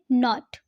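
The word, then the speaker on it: note: हैं नॉट okay नॉट बट अगर हम इसी में ई जोड़ देते हैं एन ओ टी ई तो अब हम इसे नॉट नहीं कहेंगे अब इसे हम करेंगे नोट वर्ड को हम थोड़ा सा लंबा खींचें नोट है ना नेक्स्ट इसी तरीके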